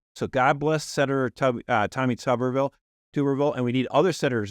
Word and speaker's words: Tuberville: What's the correct pronunciation? Tuberville.